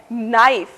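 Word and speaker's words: knife: दूसरा उदाहरण है नाइफ। इसमें पहला अक्षर यानी कि के मूक यानी कि खामोश यानी कि बिल्कुल साइलेंट है।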